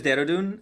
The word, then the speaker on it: Dehradun: The city's name is Dehradun, and the state is called Uttarakhand.